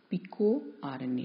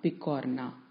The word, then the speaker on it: Picorna: have heard it right we have to pronounce it as Pico are any not picanha because Pico means small